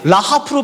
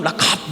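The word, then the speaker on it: רחף: 이게 사실은 카 발음이 잘 안 돼요. 라하프로 발음하기도 하고 독일 발음처럼 라카프 목에서 나오기 때문에 이 발음이 좀 어려워요.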